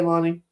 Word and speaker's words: Lanny: to the dentist so her name is spelled Lanny but it's pronounced Lonnie I'm sorry why do